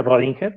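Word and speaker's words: Schrödinger: científico y the rolling y que es escribir singer y se pronuncia rodinger perfecto entonces estos tres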